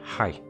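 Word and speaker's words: はい: to pronounce it properly this word sounds like hi oh hi however remember the eat sound i.e at the the word height is actually pronounced ha e ha e so height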